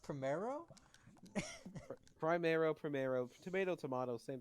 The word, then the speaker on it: primero: okay i'll tell you right now that it's pronounced primero primero primero tomato tomato same thing you know